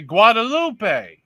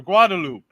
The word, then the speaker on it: Guadeloupe: Guadalupe. Or Guadeloupe. However you pronounce it.